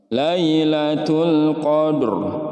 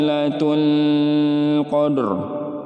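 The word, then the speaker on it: ليلة القدر: Lailatul Lailatul berani sini ada Alif Lam Qomariah alif lam ya dibaca jelas tidak boleh ada pantulan dan juga tidak boleh ditahan terlalu lama Lailatul Qadr Lailatul Qadar Ya udah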